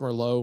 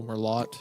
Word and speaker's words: Merlot: a nice dark Mero is that pronounced Mero Merlot yeah I think it's Merlo yeah you're right I couldn't sto wondering